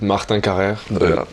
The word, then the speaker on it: Martin Carrere: You can try to pronounce it. Martan Kaya.